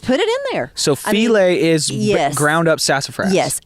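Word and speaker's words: filé: Yeah, filet.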